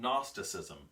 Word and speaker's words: Gnosticism: part of your potent Gnosticism that's what the G it's got silent G good Gnosticism okay if you want to pronounce it funny but these were actually